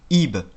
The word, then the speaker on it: ib: Ce bilitaire se prononce ib et il signifie cœur.